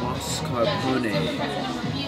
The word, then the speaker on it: mascarpone: This fresh Italian cheese is pronounced mascarpone.